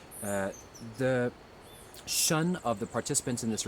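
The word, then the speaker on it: shen: This is a reflection of the Shun in Chinese medicine, spelled S-H-E-N, but pronounced Shun. The Shun of the participants in this retreat improves dramatically over the week.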